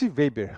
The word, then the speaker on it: Weber: Max Weber, alemão sociólogo.